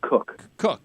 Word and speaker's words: Koch: It's Cook. Cook. Oh, it's not even Koch or it's Cook. It's pronounced Cook.